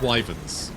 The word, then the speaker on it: wyvern: Why have I started calling them wyverns instead of wyverns? I think both pronunciations are acceptable, but still.